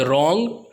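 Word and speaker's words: wrong: आपको यह नहीं पता कि उसमें साइड डब्लू साइलेंट होता है फ्राइड नहीं पड़ता है राइट पढ़ना हुआ था उसके बाद रॉन्ग उसमें भी डब्ल्यू आर ओ एन जी गलत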